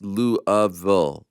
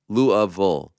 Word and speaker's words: Louisville: question okay number one Louisville is pronounced louville louville by people who live in Kentucky two I couldn't attend